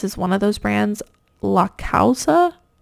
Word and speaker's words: La Causa: one of those Brands La causa I think is how you pronounce it l-a-c-a-u-s-a and this